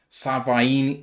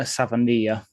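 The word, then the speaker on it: Savaiinaea: Grace Ael from North Dakota State, and Jonah Savini, I can't say it. Do you know how to say it, Ash? So, it's Jonah Savania, the Arizona offensive lineman.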